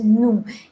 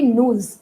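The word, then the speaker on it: nous: means V no remember it is not moves it is new in French we do not pronounce the last consonant what are consonants consonants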